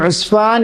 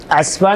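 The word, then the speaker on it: عسفان: അറിയപ്പെട്ടത് ഉസ്ഫാൻ പണ്ഡിതനായി പറയുന്നു ഉസ്ഫാൻ അലാ വസ്നി ഉസ്മാൻ അസ്ഫാൻ എന്നല്ല ഇസ്ഫാൻ എന്നല്ല ഉസ്മാൻ എന്ന ഉച്ചരിക്കുന്നത് പോലെ തന്നെ അതിന് ഉച്ചാരണം ഉസ്മാൻ ഉസ്ഫാനും ഉസ്മാനും അതിന്റെ ആദ്യത്തെ ഹർഫ് മം ആയിരിക്കും അപ്പോൾ ഉസ്ഫാനിൽ വെച്ച് കണ്ടു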